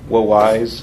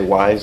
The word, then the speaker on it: Wwise: procedural audio through this program called low wise or wise we've heard it pronounced both ways so I think for the purpose of this demonstration we'll say wise just because it's really difficult to say well wise every time so let's start by